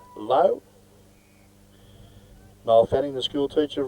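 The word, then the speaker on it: Laux: big ruckman corey low lau zed is pronounced low mile fanning the school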